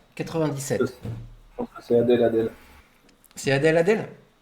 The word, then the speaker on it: Adèle: Je pense que c'est Adèle. C'est Adèle? Je pense que ça se prononce comme ça. Ah oui, Adèle, ouais, c'est ça.